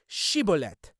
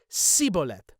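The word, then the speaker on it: שיבולת: And if he was not from Ephraim, he would say Shibolet. But he would respond Sibolet. So instead of she, he would say si.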